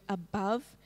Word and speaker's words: above: more word the word above the ears come out funny because i used a different font trying to make it dotted because the e is silent the reason that the